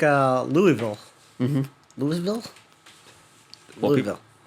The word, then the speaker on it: Louisville: ] or like uh louisville mm-hmm louisville welcome well technically people from there say louisville yeah so but and that's just a degradation that's weird right i would accept louisville or louisville yeah or